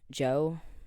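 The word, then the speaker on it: Djo: um that new the joe song The DJ o but like it's pronounced Joe Joe Kiri song um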